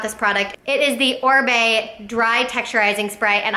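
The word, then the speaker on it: Oribe: can't live without this product it is the orb dry texturizing spray and i' had been saying orai because that's how it's spelled o r i b e um but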